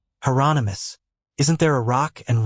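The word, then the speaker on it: Hieronymus: Heronomous rhymes with anonymous. Heronomous.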